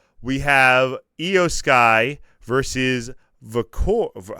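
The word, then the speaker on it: Vaquer: And then, to cap off the 3-match pay-per-view card of Raw, we have Io Sky versus Vicor. How do you pronounce it? Vicor, I believe. Vicaire.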